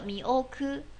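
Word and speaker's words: 見送って: 赛狗 made mi oku de yo，这个渐送呢读作一个 mi oku mi oku，第一个字读作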